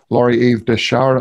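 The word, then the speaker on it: Lorie Eve Dechar: of instances so i think it's excuse me lori eve deshara not that's how you say her name correctly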